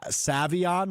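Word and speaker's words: Savion: Um Sa Sa Savon Williams I believe is how you say that I learned this week. Is that Savon?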